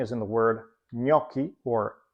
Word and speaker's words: gnocchi: When you see a GN in the spelling, as in the word gnocchi or agnello, the GN is always pronounced as a double consonant sound, and the same goes with GL, as in the words aglio or maglia.